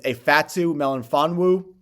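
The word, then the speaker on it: Ifeatu Melifonwu: in this report safety tough name to pronounce looking at YouTube videos pronunciation websites this pronunciation I'm settling on is a Fatu melan fonu I understand his name starts with an i but it sounds like an a when you pronounce it who is he he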